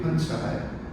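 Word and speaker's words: 盆栽: Those same two characters are pronounced bonsai in Japan, or punzai in Korea, and or bunche, I should say.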